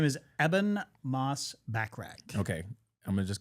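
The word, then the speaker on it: Ebon Moss-Bachrach: His name is Eban Moss Back.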